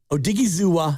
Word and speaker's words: Odigizua: It's oh. And then capital Diggy, and then little zoo, and then a little wa. Odigizua.